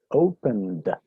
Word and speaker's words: opened: Entonces lo pronuncio ese sufijo ed con un sonido de D. Por ejemplo, open. Entonces el pasado de open sería opened. Opened.